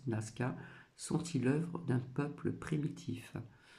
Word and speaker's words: Nazca: Donc les géoglyphes de Naska, donc c'est noté N A Z C A mais ça se prononce Naska sentit l'œuvre d'un peuple primitif.